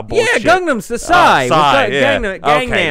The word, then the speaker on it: Gangnam: Oh, fucking Gundam Style bullshit. Yeah, Gundam Style. Psy. Gangnam. That's K-pop. Not Gundam Style.